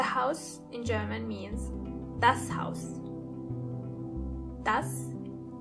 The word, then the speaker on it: Haus: The house in German means das Haus. Das Haus. When it comes to pronunciation, it's the same as in English, but you have to keep in mind how the word house is written. H-A-U-S.